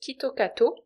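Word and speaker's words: キットカット: Kitcat est considéré comme un porte-bonheur au Japon parce que sa prononciation japonaise, Kitokato, ressemble à une expression Kitokatse qui se traduit par "Tu réussiras, tu gagneras sûrement".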